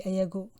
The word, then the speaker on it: ayagu: And when it's they, the last one will be ayagu.